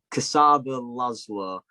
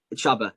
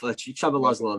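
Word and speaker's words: Csaba László: life of me, but Kasaba Laszlo, obviously. Chaba. Oh, wow. So far off. Chaba Laszlo then.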